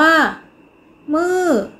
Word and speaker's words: มืด: มี รูป วรรณยุกต์ มี คำ ว่า มืด เป็น อักษร ต่ำ ผัน ด้วย วรรณยุกต์ เอก ดัง นั้น จะ ออก เสียง โท คำ ว่า มื้อ เป็น